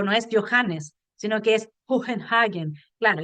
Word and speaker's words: Johannes: Y el problema de la H en alemán es que no se pronuncia como J, y a veces me citan a mí diciendo que yo digo Johannes, no es así.